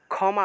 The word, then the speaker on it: ক্ষমা: থাকলে উচ্চারণ হবে রক্ষা ক্ষমা বাংলায় বললে ক্ষমা কিন্তু সংস্কৃতে উচ্চারণ করলে হবে ক্ষামা ক্ষামা অর্থাৎ ক টা উজ্জ্ব